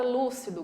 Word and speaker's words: lúcido: No item A, eu tenho a palavra lúcido, que é uma palavra proparoxítona. Lúcido, tem 3 sílabas. E a antepenúltima, última, penúltima, antepenúltima. A antepenúltima sílaba é a mais forte, então lúcido está correto.